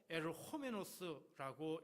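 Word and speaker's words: ὁ ἐρχόμενος: 오실 거의가 당신이오니까 오실 그의 헬라어로 호에르호메노스라고 읽습니다.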